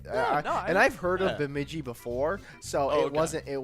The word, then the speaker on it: Bemidji: correct uh because it is it is actual pronunciation but mid-g yeah and so there it's not beemiji like maybe some people like to say it's bemidji that's right yeah the name bemidji actually comes